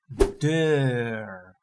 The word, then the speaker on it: deur: A door is deur.